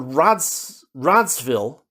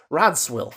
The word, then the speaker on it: Radswil: Now, the character's name is Lord Radsville, the Duke of Velasco, but his name is spelled Radswil, so you might mispronounce it. If you read it, you might mispronounce it as Radswill, right?